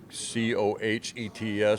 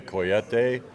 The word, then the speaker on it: Cohete: It's spelled Cohetes. So, like Americans, we would call it Cohete, but it's actually a Coyete.